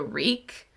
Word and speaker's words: Rycke: I called it The Rycke, but I think it's The Reek. When they actually said it in the book, they explained how to say it, but okay, so we'll call it The Reek, and that's by Mayne.